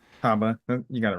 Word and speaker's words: Habba: habba I forget how you say her name Haba you got it right uh she says not